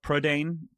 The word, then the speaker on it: Prydain: I found out today, Britain in Welsh is Prydain, and Prydain, or Prydain, if you're from Welsh and saying it correctly, is also the name